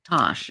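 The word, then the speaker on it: Tass: But it's pronounced Tosh.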